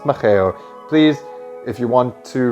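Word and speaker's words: Mageu: Hey, so in the next section of this video, I pronounce the drink as Makiu when it's been brought to my attention that it's actually pronounced Macheo.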